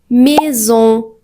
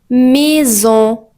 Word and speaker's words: maison: Mais si à il vient entre deux voyelles, il se prononce comme z. Par exemple, on dit maison. maison ou artisan artisan mais